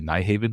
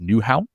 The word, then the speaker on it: Nyhavn: Admiral Hotel, right by, it's spelled Nyhavn, so all the Americans say Nyhavn, which is like the main port area, tourist canal street that have, the colorful houses and the restaurants. I think it's pronounced Newhavn, which is like New Harbor is basically. So even though it looks like Nyhavn, Newhavn, something like that.